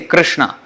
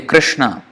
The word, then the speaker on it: Krishna: R is R. It's not exactly like R, but it's almost the same. So that's why it is difficult. Usually it's there is some confusion about how to pronounce it, but actually R, it's almost touching at the top.